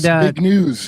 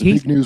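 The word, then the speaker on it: Zbigniew: And Big News, I think is how you pronounce it. It's Big News Brzezinski.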